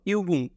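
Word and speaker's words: Übung: যেমন ইউবুং, ইউবুং, ইউবুং অর্থ অনুশীলনী, ইউবুং অর্থ অনুশীলনী।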